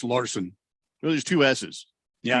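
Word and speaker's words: Larsson: nicely done by uh lars sun is that how you say his name lars son i believe it's just larson well there's two s's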